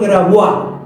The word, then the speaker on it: Grabois: los cuales está usted, señor Grabois o señor Grabois, pronunciado en francés, que manejaba 300 millones de dólares.